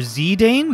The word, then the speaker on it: Zidane: that's why yeah um zidane zoller z dane with the emphasis on zee dane or zidane emphasis